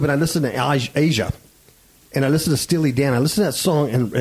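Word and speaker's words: Aja: was 7677 from Steve Dan um they they pronounced it Asia but it's spelled ASA yeah it's spelled AA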